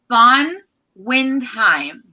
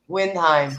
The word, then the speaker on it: Von Windheim: I'm about to ask you, how do you pronounce your last name, hon? Von Windheim. Windheim. I said it wrong. There we go. It's a difficult one. Windheim.